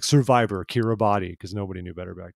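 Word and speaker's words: Kiribati: did an article called how to pronounce kidabits which reads like kira body if you've seen it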